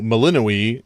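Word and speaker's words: Melinoë: So like, you know how Melinoe kind of looks like it could be spelt Melano. Or however it's actually spelled, but in reality, you pronounce all the syllables.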